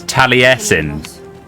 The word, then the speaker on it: Taliesin: Karen, your pronunciation is terrible. His name is Taliesin. You're not emphasizing it correctly.